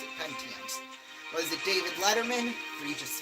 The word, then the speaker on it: Pentiums: That's how you pronounce it. Pentiums.